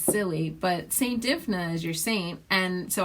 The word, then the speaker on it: Dymphna: okay st. Dymphna Dymphna is how you say it she's a very little